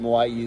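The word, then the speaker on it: Moʻi: know how to pronounce uh these words that moai is the correct pronunciation this is a cava that is grown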